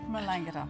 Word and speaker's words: Melangata: What's the pronunciation there? Melangata.